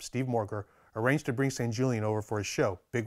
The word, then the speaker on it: Sanjulian: His name is probably more properly pronounced Sanjulian, but I'm going to go with Sanjulian because that's what all American collectors call him.